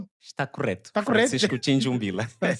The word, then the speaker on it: Tchinjumbila: Francisco Tinjumbila. Correto. Francisco Tinjumbila. Raramente as pessoas pronunciam meu nome.